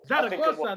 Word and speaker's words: Zaragoza: Zaragoza, that's how you pronounce that shit.